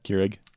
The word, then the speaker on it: Keurig: Keurig, is that how you say it? Yeah, Keurig.